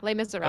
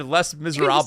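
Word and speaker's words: Les Misérables: Is that how you say it? Yeah, Les Miserables. Okay. So I almost said Les Miserables.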